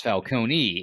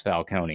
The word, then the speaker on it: Falcone: the end where it's Falcone it it would be spelled with an i if it was Falcone not an e an e Sicilian would be silent Ah that's the reason